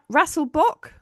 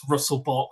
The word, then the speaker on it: Rasselbock: Raselbach. Yes, that's the right way to say it, isn't it? Yes, it is. Yeah, Russell running. Relbach. The number of people who get it wrong. There's Russell Bach, Rattlebecks, there's all sorts of combinations.